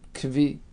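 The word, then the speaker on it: כוי: So we have a group of people who notice an animal, which was called Kai. Some pronounce it Kvi.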